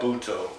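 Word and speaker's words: Butoh: Anyway, I've been telling people about Buto. If someone wants to look up this dance, how do you spell it?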